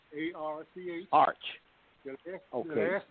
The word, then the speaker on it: Arch: The first name is Arch. A-R-C-H.